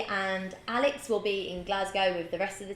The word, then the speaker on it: Glasgow: be in GL I I always say it wrong I say Glasgow it is Glasgow we'll be in Glasgow